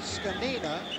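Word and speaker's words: Zgonina: player out of Purdue his name not pronounced the way it looks it is pronounced scina there you see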